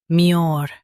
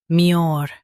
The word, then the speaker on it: demureness: DEMURENESS. DEMURENESS. Emphasize mure and soften ness. DEMURENESS.